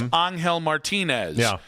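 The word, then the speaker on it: Ángel Martínez: who would know that we have been saying it right the entire time that it's Anel Martinez and that for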